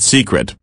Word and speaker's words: Cicret: you may not have two CET pronounced secret based in Paris France